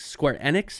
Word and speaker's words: Square Enix: by uh square enix square enix apparently is actually what how you pronounce that i've always thought it was square enix sure uh yeah it